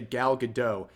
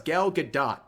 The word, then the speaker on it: Gadot: to gal do galgadot I keep wanting to say galado all these YouTubers they gastl me into thinking that's how you pronounce it it's been going on for months and months turns out it's gal gdat not gal gadoo but anyways uh you